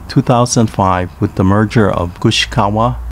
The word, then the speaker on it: Gushikawa: was formed in 2005 with the merger of gushikawa ishikawa katsurang and yonogusuku pronounced gushicha ishicha kaching and yunangoshiku respectively in uchinanguchi it